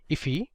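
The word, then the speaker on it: IIFE: So this is known as an immediately invoked function expression or I if which is often pronounced as ify.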